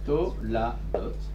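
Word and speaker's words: תולדות: En hébreu, engendrement, on avait dit Toldot. Toldot. Alors, regardez comment ça s'écrit. To-la-dot, quand c'est pas à l'état construit.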